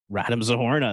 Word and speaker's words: Radim Zohorna: wanted to talk about this how do you pronounce his name random zohorna random zohorna that's Adam zahorna so the Flames uh making